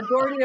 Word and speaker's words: Dougherty: Dougherty is how I, as an American, would pronounce it. But if you're in Ireland, it could be Dougherty. If you want to do the Gaelic version, it could be O'Dougherty, and it could be Dougherty in Boston and Philly, for that matter.